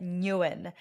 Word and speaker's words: Nguyen: us yeah absolutely so my full name is Trang Newan uh that's how I pronounce it although it's a Vietnamese surname so there's no right or wrong way to to translate it into you know the English pronunciation um but yeah you